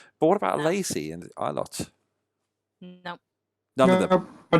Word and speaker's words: Ilott: I don't know how it's pronounced. Ilott, thank you.